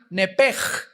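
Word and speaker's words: נפש: apúntalo ahí, el alma en el hebreo es nepesh, se pronuncia nepej, la CH en hebreo se pronuncia como J, nepesh, murió.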